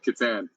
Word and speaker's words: Catan: You played, I'm going to mispronounce it. Catan? Yeah, Catan.